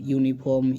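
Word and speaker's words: uniform: যেরকম ইউনিফর্ম user useful book European country তো এগুলো কিন্তু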